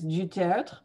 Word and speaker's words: du Tertre: It's technically it's du Tertre, but nobody ever gets it. So du Tertre, du Tertre, whatever. I tell people I answer to two turtles if they really, you know, if all else fails.